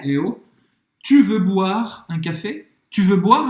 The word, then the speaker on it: boire: A gente viu comer, agora beber em francês, boire. Boire. Boire. Não vai pronunciar o E no final. Boire. O I tem o som do bois.